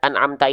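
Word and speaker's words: أنعمت: Jadi rasakan huruf ain ini tepat pada makhrajnya, yaitu di tengah tenggorokan ya, tengah tenggorokan. Kalau hamzah dilafalkan dari mana? Dari pangkal tenggorokan.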